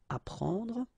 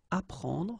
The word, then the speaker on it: apprendre: The first one, AP, so app, you will get apprendre, apprendre, okay? You don't pronounce the double P, apprendre, so here is what it means.